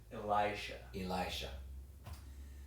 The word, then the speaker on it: Elisha: Brant Petrie commenting on the readings, and he used Elisha. So that is the proper pronunciation for.